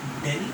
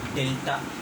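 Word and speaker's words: Δ: triangle and you have to pronounce it del or delta. Okay, either you can pronounce it via delta or del.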